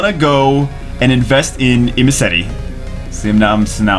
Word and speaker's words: Imesety: imy if you or IM imti IM okay imti I've been saying it wrong this entire time I've been saying I'm nasty anyway whatever shut up